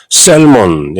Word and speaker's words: salmon: 연어라는 단어 salmon에도 SALMON, L이 분명히 있지만 L을 완전히 무시하고 salmon이 아니고 salmon 이렇게 발음하는 것처럼 debt라는 단어도 B를 완전히 무시하고 그죠?